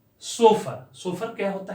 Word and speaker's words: chauffeur: So far.